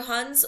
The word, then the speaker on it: Hun: was a lot of hone Invasion and he was he could not keep the Empire intact during this whole Invasion Hoon or Hans you can other different pronunciations for them so he